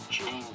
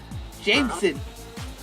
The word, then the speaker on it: JMSN: Well, apparently his stage name is JMSN. Guess how you're supposed to pronounce that? Jameson. Oh, I'm surprised you got it right. Jameson.